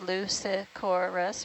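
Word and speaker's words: Leucicorus: So yeah, there's confirmation that that paler fish that we've been seeing is that Lucicorus, pronounced Lucicorus, which is how we've been doing it.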